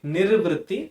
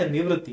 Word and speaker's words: निर्वृत्ति: अगर आप उसको निर्वृत्ति की जगह निवृत्ति पढ़ेंगे, आपका एक आंसर या आपका इंटरप्रिटेशन एकदम उल्टा होगा, ये गलत होगा। इसलिए आप इसको अच्छे से प्रोनाउंस कीजिए, निर्वृत्ति नॉट निवृत्ति।